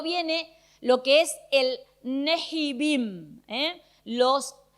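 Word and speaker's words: Nevi'im: Nejibim, eh, los e en hebreo se pronuncia neibim. ellos, la H para ellos no es muda, para nosotros sí es muda. Horacio, no decimoso, eh, sino que le sacamos la pronunciación. Para ellos, no, para ellos la h es importante.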